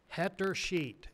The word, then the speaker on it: Hettersheet: Add to your salvation list Glenn and Nancy Hetter Sheet. It's spelt just like it sounds. HETTERSHEET. Hetter Sheet.